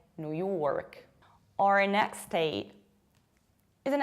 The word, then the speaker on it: New York: New York, you already remember from New Hampshire that you have to pronounce new like new. And as a result, you have New York.